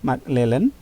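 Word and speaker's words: McClelland: Ini bacanya McClellan, theory of need ya, teori kebutuhannya McClellan ya.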